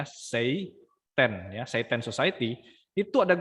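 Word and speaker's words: seitan: site and society ya Bukan setan tapi tulisannya stent ya bacanya Sei ten site end site itu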